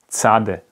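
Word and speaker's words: צדי: So it's this tse sound. It's tse, ts. Okay, tzade, ts, ts, like tse, tse, tse. Okay, very fast. T and s pronounced one after the other, but very fast.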